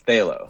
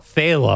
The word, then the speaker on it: Phthalo: i pronouncing that correctly it's phthalo phala like phthalo and it's a it's a color of paint it's um if you